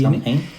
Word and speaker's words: Samhain: Bueno, esa a propósito, y como dato curioso, se llamaba Samhain, se escribe S-A-M-H-A-I-N, Sí, Samhain. y se pronuncia como Samhain.